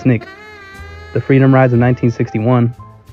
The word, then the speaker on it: SNCC: In the wake of the Wolves were sittings came the creation of more radical student non-violent coordinating committee SNCC pronounced SNIK the freedom rides of 1961 James Merida's integration of the University of Mississippi in 1962.